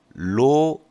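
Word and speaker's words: ρ: 로 xy 이렇게 돼 있어요. 로라고 읽거든요.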